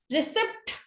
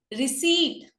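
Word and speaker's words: receipt: रिसिप्ट गलत word होता है, रिसीट, रिसीट बना दो, रिसिप्ट गलत होता है, रिसीट सही वर्ड है, इसको एग्जैक्टली हम रिसीट बोलते हैं।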